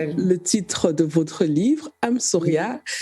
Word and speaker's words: Amsoria: titre de votre livre I'm Sauria qui s'écrit amsoria donc vous pouvez c'est